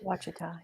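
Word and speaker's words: Ouachita: This is Lake Washita, I think is how you pronounce it. Wachita, yeah.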